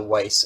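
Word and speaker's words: Wyss: yeah it's and also it's the Weiss Institute I believe it's how it's pronounced W SS WS yep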